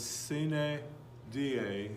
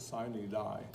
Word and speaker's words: sine die: So sine die means the last day, but the Kansas legislators pronounce it sine die. A lot of people do that, pronounce Latin words like they're English, but I suppose it works.